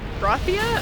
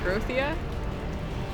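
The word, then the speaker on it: Grothia: with epit which is actually groia I think is how you pronounce it g r o t h i a groia yeah you can name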